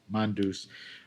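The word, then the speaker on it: Mondeuse: How do you pronounce it? Mondouse.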